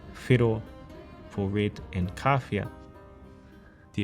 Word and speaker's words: whero: mind was in the pronunciation of wh, where he says wh is an aspirate as in whero, red. And they’ve also said to avoid giving it the sharp sound of F.